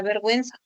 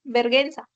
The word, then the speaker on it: vergüenza: la palabra vergüenza en la palabra vergüenza la u se pronuncia entonces necesitas esa marca diacrítica que son los dos puntitos llamados hod diéresis para poder identificar o señalar que se va a pronunciar Porque si tú no usas esa diéresis Entonces qué sucedería la persona que lee esa palabra va a decir verguenza te das cuenta entonces